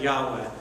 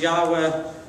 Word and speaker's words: Yahweh: sent me to you in Hebrew it's kind of pronounced something like Yahweh it's a variation of